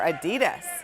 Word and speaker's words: Adidas: What's the better buy, Nike or Adidas?